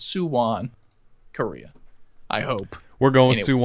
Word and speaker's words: Suwon: Suwon. I hope that's how you pronounce it. Suwon. Suwon.